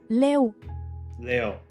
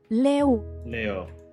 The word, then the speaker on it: leu: The currency sounds like lion. They don't use euro. Okay. How do I pronounce it? Let's see. Leu. Leo.